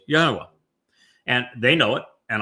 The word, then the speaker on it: Yahweh: absolute and irrefutable proof that God's name is pronounced Yahweh.